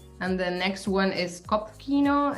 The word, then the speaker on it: Kopfkino: Well, how do you pronounce that one? Kopfkino.